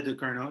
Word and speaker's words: Ducournau: It's incredible that Ducarneau, is that how I say her name? Yeah, Julia Ducournau.